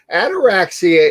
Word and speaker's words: ataraxia: It's almost like anorexia, but it's ataraxia.